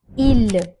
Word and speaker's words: il: Here again, S is silent. It's not ils, it is il.